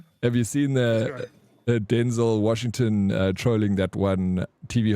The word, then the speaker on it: Denzel: Have you seen the Denzel Washington trolling that one TV host when he's like, "How do you pronounce it? Is it Denzel or Denzel?" And he's like, "No, it's Denzel."